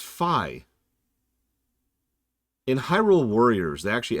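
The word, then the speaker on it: Fi: It's pronounced Phi.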